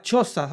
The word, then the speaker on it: Xhosa: Claro, él hablaba Xhosa, o XHOSA, como se pronuncia, ¿cachai?